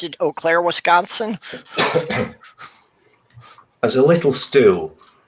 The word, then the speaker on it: Eau Claire: Because I actually pronounced it Eau Claire, Wisconsin.